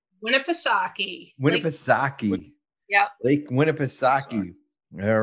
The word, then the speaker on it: Winnipesaukee: loves golfing and boating on i hope i pronouncing this right win a piece suck winnipesaukee winnipesaukee yep lake winnipesaukee all right well and um